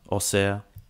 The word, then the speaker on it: Auxerre: Auxerre.